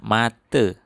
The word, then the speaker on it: mata: Nah, tulisannya mata, tapi dibaca tetap mate.